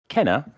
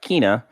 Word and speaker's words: Kena: the recently released kenna brucha spirits and it's pronounced kenna and not kina and not khanna so uh there you go in the game for some reason they pronounce it kana yeah that's that's weird like that's weird we'll